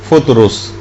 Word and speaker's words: فطرس: فرشتہ تھا فطرس کا، فطرس۔ اچھا، اس کو الگ الگ طریقوں سے لوگ پکارتے ہیں، لیکن اصل میں اس کا جو تلفظ ہے وہ فطرس ہے۔ اچھا، اس فرشتے کا